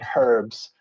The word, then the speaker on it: herbs: has a h sound so we say herbs and not herbs for example anyway let's skip